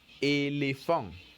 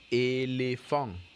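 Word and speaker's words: éléphant: East upon us a so elephant will be pronounced elephant elephant very good next we are looking at a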